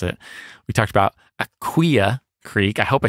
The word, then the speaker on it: Aquia Creek: We talked about Aquia Creek. I hope I said it right this time. Nope, it's Aquia. There it is.